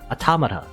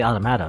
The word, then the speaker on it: Automata: oh yeah okay that they said it automata and apparently that's correct that's a correct way to say - actually I